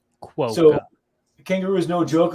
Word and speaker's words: quokka: And I was waiting for someone from Australia to just phonetically spell it. Quokka.